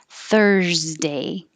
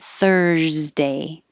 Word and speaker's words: Thursday: 37, Thursday. The vowel is thurs. So keep your airflow going and keep your voice on while you make a Z. Thursday, Thursday.